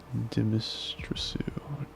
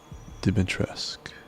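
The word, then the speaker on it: Dimitrescu: Deistrasu.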